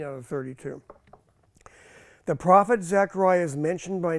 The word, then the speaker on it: Zechariah: to be speaking about Zachariah he's the guy who was a by the way Zachariah was a contemporary of of um Hagi Zachariah Zachariah pronounced Zacharia uh and also uh